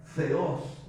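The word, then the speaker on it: θεός: palabra biología la raíz la palabra Teo es la palabra Dios en el idioma griego que se pronuncia feos entero cuando hablamos de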